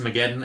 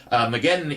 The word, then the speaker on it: Mageddon: I'm assuming it's pronounced Mageddon, as in Armageddon, and I got Mageddon confused with Solaris.